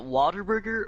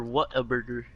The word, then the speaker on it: Whataburger: But I've never ever in my vocabulary, I'd never pronounce it what a burger. I don't know why. But that's how it's spelled, I know dude. I know how it's spelled, but it's just my when I see it, I say it as what like Waterburger.